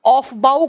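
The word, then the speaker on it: Aufbau: Scientist का नाम है, बड़ा ही अजीब सा स्पेलिंग है, AUF और डैश लगा के BAU लिखा जाता है। ऑफ बाउ का सिद्धांत बोलते हैं इनको, ऑफ बाउ का सिद्धांत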